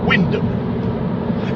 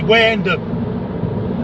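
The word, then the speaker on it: Wymondham: on this place and that's pronounced windham except when you're from norfolk then you have to say where end up all right it's been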